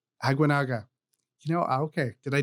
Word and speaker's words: Aguinaga: Aguinaga.